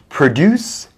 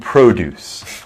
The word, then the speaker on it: produce: good one um yes we have two words produce and produce produce produce same spelling different meaning if you change the pronunciation so this is really important uh produce is the verb produce is the noun okay so like vegetables